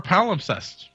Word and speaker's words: palimpsest: Let me see if I'm saying it right. Palimpsest. Palimpsest. How do you pronounce that freaking word, man? What is this? A palimpsest. Yes, I had it right the first time.